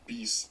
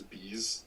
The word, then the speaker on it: Beast: It's pronounced Beast, but they said it as Bees. Like I thought it was Buys.